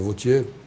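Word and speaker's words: Vauthier: Vautier se escreve V-A-U-T-H-I-E-R.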